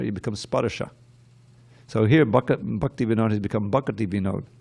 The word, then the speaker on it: Bhaktivinod: To fill out, it's not Bhaktivinoda, it's Bhakti Vinod. It's right there in the song. To fill out the meter.